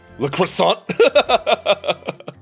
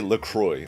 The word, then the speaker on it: La Croix: cooking dude okay okay la croissant la crosse i looked it up and the company tells us to say lacroix oh okay multipacker let's